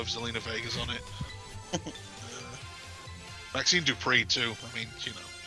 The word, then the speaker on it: Maxine Dupree: I didn't pronounce it quite right. Maxine Dupree.